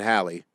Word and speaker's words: Halley: Is it Halley? Yeah, Okay. Haley is Bill Haley in the comics. Whoa! We gotta rock. I'm on the rock tonight. We gotta rock. That messed with the proper pronunciation of Edmund Halley for decades.